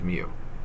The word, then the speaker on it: mu: All right, that's what it's pronounced as, mu.